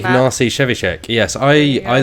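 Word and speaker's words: Ignacy Trzewiczek: Ignacy Shevchik.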